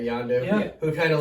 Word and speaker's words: Yondu: He is a very cool character because like he's got that close relationship with Yondu. That's how you say it, right? Yondu.